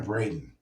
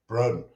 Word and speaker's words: Broden: Broden or Braden? You think you pronounce that? Broden.